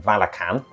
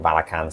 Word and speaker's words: Valachan: it released it in Valachan. I accidentally say "Vala-chan" - again, the whole "Rick-ten"/"Rich-ten" thing, I called it "Vala-chan" long before I realized it was called "Vala-can," so apologies if I mispronounce that (constantly).